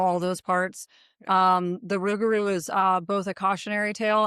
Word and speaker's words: Rougarou: There's been a lot of questions about the pronunciation, but Rougarou is It is The Rougarou itself is a cryptid, shapeshifter.